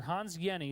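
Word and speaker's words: Hans Jenny: the study by Dr Hans Yenni that's how you pronounce that name even though it looks like Jenny the J is silent it's like a why so Dr Hans Yenni studied a drop of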